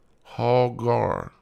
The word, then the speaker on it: Hagar: Strong's definition of Hagar says hogar hogarm is the pronunciation oh God Avenged certain